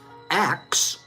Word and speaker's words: ask: The pronunciation of ask as axe, instead of saying ask, we say axe. That pronunciation has a very long history. And it's found in accents in America, Ireland, Jamaica, London, and it dates back to Old English.